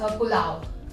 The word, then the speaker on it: pulao: I'm Pav not going and- to be able to pronounce that. Okay, Pavbhaji. Pavbhaji. Yeah, perfect. Right, And okay. this is Pulao.